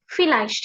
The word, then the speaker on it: vielleicht: V අකුර අපි first sound එකෙන් තමයි pronounce කරන්නේ. vielleicht කියලා තමයි එතකොට කියන්නේ.